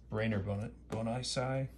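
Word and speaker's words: Brainer Bonaci: Firsts, Wolf, Matos, York, also had Schwartz, Leon, Brainerd Bonisai, that's how you pronounce it.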